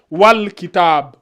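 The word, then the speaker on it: والكتاب: Donc on prononce bien le al. Donc on dit wal kitab.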